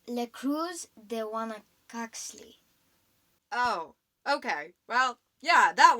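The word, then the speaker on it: La Cruz de Huanacaxtle: how does it go again mom it's le cruz de wana coxley oh okay well yeah that one oh my gosh i used to i used to think of it as la cruz de wana cox slay but um that's not how you pronounce it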